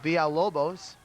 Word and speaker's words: Villalobos: But of course I know that 2 L's make a Y sound. Yeah, but that's Spanish, Joe, and this is, yeah, it's quite possible. I've just informed that it's pronounced Villalobos.